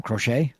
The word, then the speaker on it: Crochet: The Cro What's How do you pronounce the Boston's pitcher's name? Crochet.